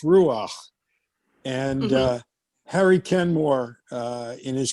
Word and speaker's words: Ruach: how do you pronounce Ruach? And Harry Kenmore, in his communication with Meher Baba, would often say "Ach du Lieber," which is German, but that the ch in Ruach is a guttural sound.